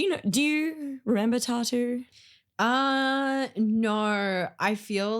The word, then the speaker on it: t.A.T.u: want to talk about tattoo no I'm not mispronouncing tattoos I'm talking about tattoo the Russian pop Duo from the mid 2000s